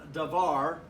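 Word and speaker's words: דבר: form of this noun davar when you add the suffix it adds a whole vowel okay and so now this is three syllable davar and devarin a devori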